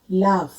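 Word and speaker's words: laugh: जी अक्षर एच के साथ होता है, कई जगह उसका प्रोनाउंसिएशन जी ना होकर के फ का, एफ का प्रोनाउंसिएशन बन जाता है। जैसे कफ, रफ, इनफ, लाफ, तो इन सब में जी एच का प्रोनाउंसिएशन एफ बन जाता है, यानी कि फ बन जाता है।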